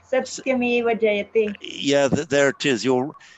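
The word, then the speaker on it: सत्यमेव जयते: Satyameva Jayate. Satyameva Jayate. Yeah, there it is. You're well noticed, Mariano. There is a slight lengthening of that T.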